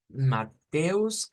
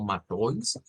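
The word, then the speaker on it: Matthäus: accent vendría siendo 18 mateus se o como hemos visto también que el nombre de Mateo se puede decir como matois cualquiera de las dos pronunciaciones sería válida con este versículo terminamos esta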